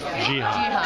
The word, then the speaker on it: Geha: I'll say, how do you pronounce this last name? Geha? Geha.